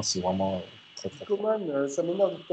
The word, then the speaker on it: Coman: On prononce Coman, mais il a dit qu'il accepte de dire Coman parce que les gens l'appellent Coman depuis le début de sa carrière.